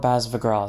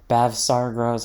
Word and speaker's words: Bavsargra: bav sargrah deck profile i want to call it baz of a girl so badly but bav sargeras how you're supposed to pronounce it and that's probably the